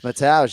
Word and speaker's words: Mateusz: My name is Mateusz Gamrot. My nickname is Geimer. Okay, great. Mateusz. It's Mateusz, yeah.